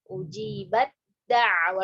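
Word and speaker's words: أُجِيبَت دَّعْوَتُكُمَا: Maka kita idghamkan kamil juga. Idgham kamil, ya. Ujibat da'watukum. Ujibat da'wa, langsung ke dal. Jadi nggak dihamuskan ujibat enggak.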